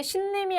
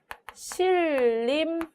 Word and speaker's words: 신림: 자, 그 다음에 신림이 아니라 얘는 실림 이렇게 발음을 해야 옳습니다. 니은과 리을이 만나서 니은이 리을로 발음되는 것을 살펴볼 수 있죠.